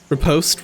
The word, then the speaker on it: riposte: Riposte rhymes with toast.